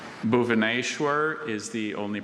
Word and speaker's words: Bhubaneswar: Bhubaneswar is the only pronunciation I have.